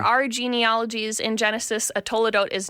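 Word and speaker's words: toledot: Toadote.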